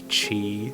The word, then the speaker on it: Qi: for my phone and it is a chi certified charger and it is spelled Qi so hello knowledge teams um